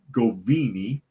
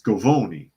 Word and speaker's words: Gavone: that for 11 years the senator said goini or gooni excuse me it's gavone I pronounced it wrong Leo gavone has not